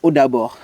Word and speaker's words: Odabo: — 'Odabo'. — "Odabo'... the languages are really similar. I know that in Fon they say 'Edabo' and here they say 'Odabo'.